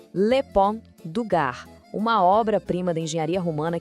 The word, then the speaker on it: Pont du Gard: Vamos lá na pronúncia. Le Pont du Gard, uma obra-prima da engenharia romana que, inacreditavelmente, ainda está de pé depois de 2000 anos, desafiando o tempo.